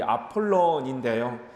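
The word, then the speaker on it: Apollon: 자, 아볼로라는 이름의 원래 발음은 이 아폴론인데요.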